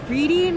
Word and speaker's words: Reading: And like the Reading Railroad isn't pronounced Reading Railroad. It's the Reading Railroad. Wait. It's not Reading Railroad? I thought it was like a LeVar Burton thing, you know? Reading Railroad, Reading Railroad.